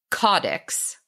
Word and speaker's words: caudex: Cado offline we realized I've been saying this word wrong the whole time your votes is that it's pronounced codex codex or cadiziform plants however